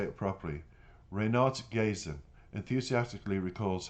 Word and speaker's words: Renat Gaisin: The author of the music, Renat Gazin, I want to say it properly, Renat Gazin, enthusiastically recalls how he suddenly came up with the tune during a night ride around Almaty.